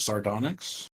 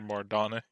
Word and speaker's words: sardonyx: A marble orb set with a rosé of sardonyx, worth 35 gold pieces. I don't even know how to. Don't even know how to spell that word, Mardonic.